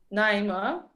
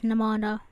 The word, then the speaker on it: Nihmanah: You guys just support Naima. No, I'm not pronouncing it right, right? Am I pronouncing Yeah, that's one of my nicknames to be honest, but it's Nihmanah. That's how you say it, but everyone call me Naima.